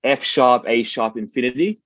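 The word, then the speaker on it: F♯A♯∞: black Emperor and their album which is technically pronounced F sharp a sharp Infinity um 1997 um for the lp but 1998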